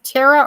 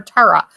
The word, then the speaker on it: Tara: This is Tara or Tara. I say Tara nowadays because we have a neighbor. Her name is spelled this way, and it's Tara. So we're going to call her Tara.